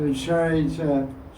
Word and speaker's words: charita: So charita means character. Almost sounds like character. Charita, character, very similar. Because CA in Sanskrit is pronounced CH, Yes.